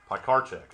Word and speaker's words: Pikarchak: His last name is actually Pikarchak. Pikarchak, okay.